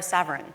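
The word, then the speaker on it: Saverin: Karen is Eduardo svan how you pronounce his last name is that right Eduardo Savin Savin yeah yeah um co-founder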